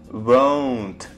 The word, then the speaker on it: won't: Вот это слово, оно произносится как won't. O. У вас будет звук O. O. Вот так он пишется. O. O. O. Потому что иногда путаются словом want.